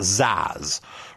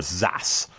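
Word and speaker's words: XaaS: Now, in keeping with trendy talk, sometimes this is pronounced ZAS or ZAS.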